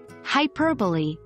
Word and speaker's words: hyperbole: Hyperbole, an exaggeration in speech, is pronounced hyperbole, not hyperbole.